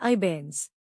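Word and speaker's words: abeyance: इसका प्रोनाउंसिएशन है अबेयंस।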